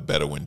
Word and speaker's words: Bedouin: I believe that's how you spell it. Bedouin.